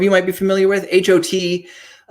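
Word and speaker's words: H.O.T.: So one of the biggest ones to come out, though, is HOT, which I think some of you might be familiar with. HOT, pronounced just like that, stands for High Five of Teenagers.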